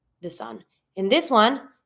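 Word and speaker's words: fils: sun in this one it's the L the letter L that we're not going to be pronouncing so you're going to avoid the L but you're going to be pronouncing the S and then then the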